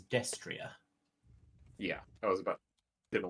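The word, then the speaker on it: destrier: also a fun fact that type of horse is pronounced as destria yeah I was about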